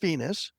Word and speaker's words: Venius: Meet Venus. Venus is spelled with an I in there, so it is pronounced Venus.